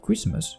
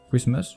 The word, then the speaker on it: Christmas: Christmas would become Christmas. The T in Christmas is not pronounced in the first place in English, so we can ignore it.